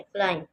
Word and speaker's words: climb: क्लाइम, CLIMB, क्लाइम। क्लाइम, इसमें बी जो है ये साइलेंट है, इसको हमने लिखना है लेकिन प्रोनाउंस नहीं करना।